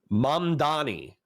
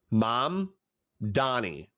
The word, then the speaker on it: Mamdani: I can pronounce it. Mamdani. Mamdani.